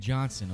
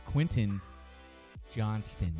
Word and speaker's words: Quentin Johnston: you say his name Don't Call Him Quinn and Johnson okay someone will freak out it's Quentin Johnston and my man is